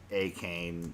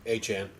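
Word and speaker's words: Achane: I'm going to butcher this pronunciation. Devon Akane. A-Chan. Thank you, Maddie.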